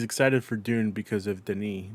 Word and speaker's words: Denis: Hugo also says he's excited for Dune because of Denis, not the books.